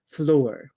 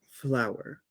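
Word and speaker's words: flour: it already we need something called floor uh it's pronounced flower oh well I can't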